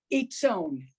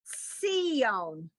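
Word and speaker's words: ציון: Except that, wait, almost, but that's the tsadi, the one that's the ts sound. Itzon. No. So we sound the letter first, so that's Sion.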